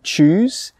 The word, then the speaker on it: choose: what's the difference between choose, C-H-O-O-S-E, and chose, C-H-O-S-E? Let's start with the pronunciation first. Choose, C-H-O-O-S-E, choose, ch-ooze. The sound in the middle, the vowel sound, is an oo sound, choose.